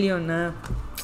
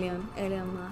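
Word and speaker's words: Elon: long elmo's el yerno el lyon y el lyon que se pronuncian que yo siempre he dicho el león y pues este gran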